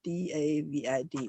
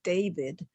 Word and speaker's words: David: is his name dby d a v i d because he's French so you can you say his name not as David but as David and that last D you hardly speak up so it's dby and